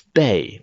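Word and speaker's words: 辈: This is Bei, which also rhymes with Fei, but it's definitely not Zui.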